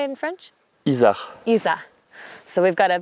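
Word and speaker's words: isard: Isa.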